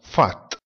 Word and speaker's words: Pfad: La lettera P seguita dalla lettera H oppure dalla lettera F si pronuncia F. Ad esempio, filosofia, filosofie, si pronuncia filosofie. Percorso, pfad, si pronuncia fat.